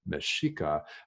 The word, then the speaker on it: Mexica: in mexico city and by the way meshika is spelled just the same way as mexico the country but with an a at the end of the word instead of an o meshika that's the name of